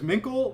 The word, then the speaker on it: Minkle: Do you say it as Minkle or is it Mink L7?